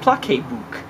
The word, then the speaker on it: PlaceBook: important that we um get everyone to pronounce it correctly you know uh pla book uh I think I think if people say pla book it would make everybody happy so that's our new